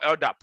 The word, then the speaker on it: LDAP: gotta start using our i.t technologies it's called ldap that's how you pronounce it because you're gonna go in front